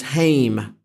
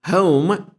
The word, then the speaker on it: home: In Edinburgh مثلا Scotland, the word home is regularly pronounced as hame. So my hame as if it rhymes with name.